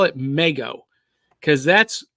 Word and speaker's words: Mego: l e g o if you pronounce that Lego then you have to pronounce that mego so that was my assumption now in recent years people have been pronouncing it Migo so yes I've pronounced